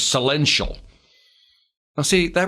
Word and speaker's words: Celential: a company called and i believe the pronunciation is celential now see that right